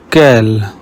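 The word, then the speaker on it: quel: Whenever you see QU, pronounce it like ka in the English word cat. Kel means which.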